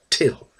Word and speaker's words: Tyl: e ow in other words he wanted it pronounced no well not no no till no that wasn't any good no well till and then in brain parentheses he would put